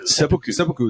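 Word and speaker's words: seppuku: Sepoku is the one.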